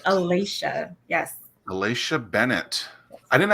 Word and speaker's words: Alasha: You did pronounce that properly. It is Alasha.